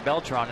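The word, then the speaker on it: Beltrán: here in the eight there's beltron that's the way he likes it pronounced by the way although he'll accept Bel TR with Tom verduchi Ken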